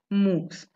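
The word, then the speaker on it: MOOCs: open online course where the acronym is m o o c s and it is being pronunciated as moves okay and then sns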